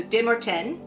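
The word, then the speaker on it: Demorthèn: The whole community, led by their De Morten, which I was mispronouncing in my first review, it is French, so they don't pronounce the TH like the, it's te, so De Morten, go to the caverns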